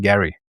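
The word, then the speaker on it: Gerry: And just for those of you who might be reading the chat, I know Gary's name is spelt Jerry, but he has assured me you pronounce it Gary.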